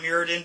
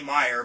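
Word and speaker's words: Myr: one is Shimmer me I always want to say Meer but I guess the correct pronunciation is Mir like I had it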